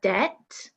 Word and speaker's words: debt: two silent W good number six Deb with a silent B number uh seven listen